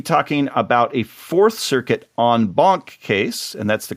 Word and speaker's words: en banc: And she's going to be talking about a Fourth Circuit en banc case, and that's the correct pronunciation, as you know from the last couple episodes, that is about sentencing issues.